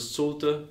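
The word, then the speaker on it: Šulte: In Latvian you add a bit like umlaut. Sulte. So it's actually very German. That sounds very German. Schulte is very German.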